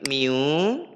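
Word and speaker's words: μ: ya kinetisnya itu berarti Mi dikali dengan gaya normal Apa itu mi Miu m m miring m-nya dibuat miring gini Nak m-nya dibuat miring gini nah gini dia tulisannya Mi bacanya mi mi ah Mi ini kalau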